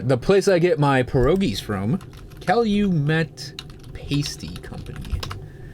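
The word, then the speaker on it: pierogi: Coast thing which I am obviously not at perogi oh my God perogi is one of my favorite foods p I believe it's spelled p i e r o g i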